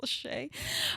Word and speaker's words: Lachey: know Jessica Simpson and Nick Lachey or as I called today Nick Lachey um because I didn't know it's pronounced Lachey um they were broken